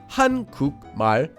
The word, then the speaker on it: 한국말: So we change the sound of the 기역 at the bottom of 국 into an iung, and that syllable becomes 궁. So together we get 한국말, or read quickly, 한국말.